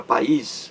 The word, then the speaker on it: país: pegadinha país para e os país duas sílabas a palavra país como você vê a sílaba mais forte a última e palavra oxítona país é uma palavra oxítona também da mesma forma que